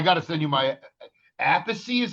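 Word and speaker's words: Appice: I love I got to send you my Apey is how you pronounce his last name. Well, that's how I pronounce it. Some people say a piece, but I Yeah, that is nuts, dude.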